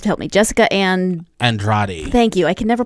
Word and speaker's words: Andrade: Jessica and Andrade. Thank you. I can never pronounce that. I look at the word and I can never remember how to pronounce it. Jessica Andrade.